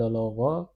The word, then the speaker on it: veut: This is pronounced as veut.